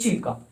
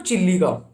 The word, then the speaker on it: Chilka: और second lake चिल्का, this is नॉट चिल्लिका, this is चिल्का। Okay, mind the pronunciation, this is चिल्का नॉट चिल्लिका।